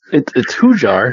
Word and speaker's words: Hujar: It was fine then, but like it's Hujar. Like, how do you think it's spelled?